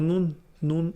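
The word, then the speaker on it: νῦν: Se lee como nun exactamente. Entonces, cuando le dice ahora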